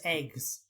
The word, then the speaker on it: AGWS: anti gnosis weapon systems which everyone pronounces eggs eggs eggs which is what